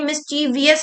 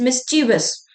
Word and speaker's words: mischievous: जो प्रोनाउंसिएशन है ना, ये मिस्चीवियस नहीं बोलेंगे, क्योंकि काफी स्टूडेंट्स है ना इसको मिस्चीवियस बोलते हैं, और मिस्चीवियस के हिसाब से उनको ये स्पेलिंग बिल्कुल सही लिखती है। तो this word is नॉट मिस्चीवियस, this word is मिस्चीवस।